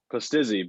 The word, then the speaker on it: Pustizzi: Is that how you pronounce it? Pustizzi, but Pustizzi.